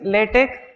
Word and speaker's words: LaTeX: Pronunciation is LaTeX. Most of the people pronounce it wrongly, call it LaTeX or LaTeX. X is never pronounced as X. It is C.